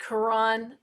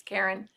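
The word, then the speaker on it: Caron: to look at the quran simply soft or karen simply soft how i think that's how it's actually pronounced as karen and i have some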